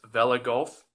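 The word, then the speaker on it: Vella Gulf: Black Sea and the Mediterranean aboard the USS Vela Gulf. Pronounce that right, Karina?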